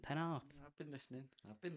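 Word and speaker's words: Pennard: pen and Pa call the other four good pronunciation penar I've been listening I've been listening you do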